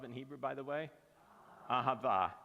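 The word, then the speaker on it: אהבה: Ahava.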